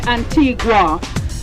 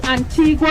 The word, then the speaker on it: Antigua: Some say Antigua. Antigua is the Spanish pronunciation because of the whole Columbus thing, and in Spanish, Antigua means ancient.